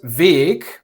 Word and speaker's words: weg: For example, the word Weg, the way, has a logical long A, but I don't know why the word weg has a short E.